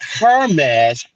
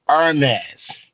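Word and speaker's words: Hermès: partnership their partners with Hermes not hermesh Hermes the H is silent I'm gonna teach you guys something it's Ernest yes the same place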